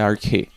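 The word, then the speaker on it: ἀρχή: usada aqui é arqué a pronúncia dela é ar que E conforme o dicionário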